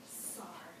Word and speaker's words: Sar: Hansen used my name my name is Mrs SAR rhymes with star and I like that